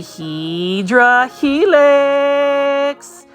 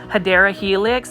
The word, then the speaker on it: Hedera helix: And right here is a Hydra Helix. Royal Hustler, or what the correct way to say it is Hedera Helix.